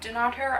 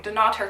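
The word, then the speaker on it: Dunnottar: on the Wednesday evening going to this epic castle on the coast and not her do not her I keep saying it wrong do not her castle which is one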